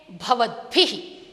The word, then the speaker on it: भवद्भिः: यह भ व, उसके बाद हम द का उच्चारण करते, भवद्भिः। लेकिन लिखते समय भ को हम द के नीचे लिखते हैं और इस भ के साथ ई की मात्रा जोड़ी हुई है। देखिए, उच्चारण करते समय किंचित सावधानी से सुने और बोले भी, भवद्भिः, भवद्भिः।